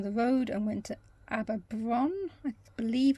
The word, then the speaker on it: Aberaeron: And then finally, we went along the road and went to Aberaeron, I believe it's pronounced, which is another pretty little town.